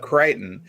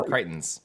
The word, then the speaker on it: Crichton: i like this so the reason i put up creighton is because rhymes with chitin yes and crichton was